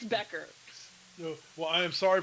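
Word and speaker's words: Bueckers: Becker Becker sorry for it looks like it should be Buer but it's Becker.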